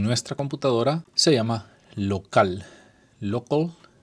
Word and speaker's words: Local: Local se pronuncia en inglés y es desarrollado por Flywheel.